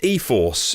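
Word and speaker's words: e-4ORCE: the new Nissan all-wheel drive technology uh it's pronounced eforce but it's spelled e lowercase e hyphen numerical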